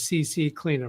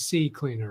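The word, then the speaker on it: CCleaner: Maggie did a CC cleaner I know she's pronouncing it as CC cleaner, but I believe it's C cleaner, right?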